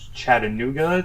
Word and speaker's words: Chattanooga: The police chief of Chattanooga, Tennessee, came out. I'm not sure how to pronounce that city's name.